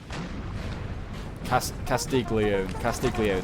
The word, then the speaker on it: Castiglione: It's not even Castiglione, but that's how I'm saying it now. Castiglione. There you go. That's how you say it.